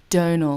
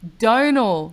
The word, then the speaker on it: Domhnall: you save toenails Gleeson Donal like tonal but with a D Donal Glee but you know